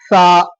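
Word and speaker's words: ث: சா சா சொல்லும் பொழுது சா சொல்லும் பொழுது மேல் உதடுக்கும் கீழ் உதடுக்கும் நடுவுல, அதாவது மேல் பல்லு கீழ் பல்லுக்கும் நடுவுல நாக்க வச்சு சொல்லணும், சா என்பதாக.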